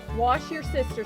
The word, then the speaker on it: Worcestershire: How do you say that, Shan? Wash your sister sauce.